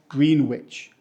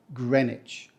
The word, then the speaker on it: Greenwich: trying to get there we don't say green witch we say Greenwich so not green witch not greenwick it's not about witches or Wicks it's just Greenwich the W is silent and if it's too